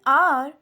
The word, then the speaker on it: hour: In hour, H is silent, so it starts with a vowel sound.